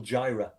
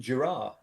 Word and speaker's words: Gira: So I thought the singer of Swans was Michael Gyra. Oh, how does he pronounce it?